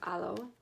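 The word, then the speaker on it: Halo: with hollow planning with alo the h is silent if you are familiar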